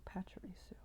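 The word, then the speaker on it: Pachirisu: squirrel squirrel electric squirrel pacharisu not tiramisu not tiramisu pacharisu there you go you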